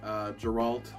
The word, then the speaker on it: Geralt: But in the book here it says this guy is asking for someone that sounds like the name Gerald, so I can only assume it's then pronounced Geralt.